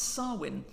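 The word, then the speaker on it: Samhain: November I will try and pronounce this correctly pronounce swin a sort of mashup of Harvest Festival and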